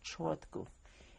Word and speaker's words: Chortkov: but about 30 kilometers to the city of Chortkov, which is spelled C-H-O-R-T-K-O-V, and he died in prison there very soon.